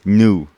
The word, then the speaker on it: GNU: It's new. It's a new, okay? If they didn't want the G to be silent, they wouldn't have used a silent letter.